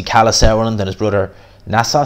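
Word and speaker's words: Nisse: Now, I've seen a lot of people say that Sauerland, so obviously Kalle Sauerland and his brother Nassau Sauerland, I think is how you pronounce his name, they've signed a deal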